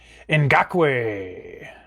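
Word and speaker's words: Ngakoue: All right, here we go with the Yannick Oh boy, somebody told me how to pronounce this name. This is Ngakwe for the Jaguars.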